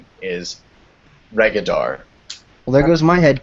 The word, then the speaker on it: Regidar: sort of goes against English convention, but I pronounce it Regidar, not right. Are you It's yeah, Regidar? it's Regidar. It gets pronounced Regidar a lot often. So just my official pronunciation is Regidar.